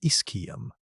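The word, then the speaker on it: ischium: When researchers reviewed its injuries, they found that with the single exception of a broken Iskum, pronounced Iskum, one of the lower hipbones, every traumatic injury on Big Al 2 shows unambiguous evidence of healing.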